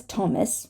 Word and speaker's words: Thomas: not thigh but Thai this is Thomas right the name Thomas Tom sometimes we do not